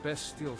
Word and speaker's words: bestial: Is that how that's pronounced? Bestial? Even though it's supposed to be like beastly? Like bestial? I always thought it was like bestial, not bestial.